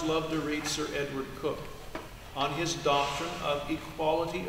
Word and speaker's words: Coke: And then in letter F in the 1600s, there was a man named Sir Edward Cook, pronounced Cook, spelt Coke.